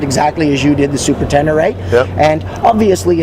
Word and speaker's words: Ténéré: I pronounce it exactly as you did the Super Tenere.